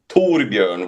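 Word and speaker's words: Torbjörn: So my real name is Tborn which is like Thor bear the bear of the you know Thor the thunder god but is a little bit hard to pronunciate I guess. Torbjorn is a video game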